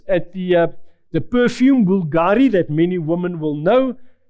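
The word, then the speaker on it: Bvlgari: Think for instance at the uh the perfume Bulgari that many women will know that Bulgari the second uh character it's pronounced u but it is actually written as a V that has a value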